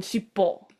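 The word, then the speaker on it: しっぽ: Oh, So but it's shippo. pronounced shitty Shiri as well.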